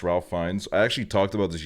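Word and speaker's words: Ralph Fiennes: where I'm like yeah this is all fine Ralph fenes is pronounced Ralph fines I actually talked about this yesterday on my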